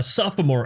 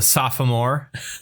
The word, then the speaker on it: sophomore: But they completely ignore The O. the second O. Yeah. It's just sophomore instead of sophomore. I don't know why. I don't know why people ignore the second O there.